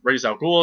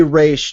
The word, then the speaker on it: Ra's al Ghul: But he comes in, he starts talking to him about Thea, and Ra's al Ghul is coming. How do you pronounce it, by the way? Ra's al Ghul? Ra's al Ghul? I say Raish just because Me that's too.